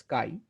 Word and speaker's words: chi: way we Define the Ki Square test Kai CH I it is pronounced as Kai we Define the kai